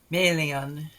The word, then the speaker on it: Melian: syllable first syllable fashion first question of why melian has accent on her first syllable while gil gallade has accent on the second syllable the name alien comes